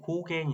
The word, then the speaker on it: GauGAN: 이어서 알아 볼 거는 가 5개 가옥 n 이라고도 하는데 고갱이 라고 읽어 주시면 좋아요 그래서 고갱 인공지능 그림그리기